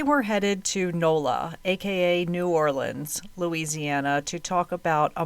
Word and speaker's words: New Orleans: Today we're headed to Nola aka New Orleans, Louisiana to talk about a mom of two who disappeared back in 2002. I have been calling it New Orleans my entire life, but the last time I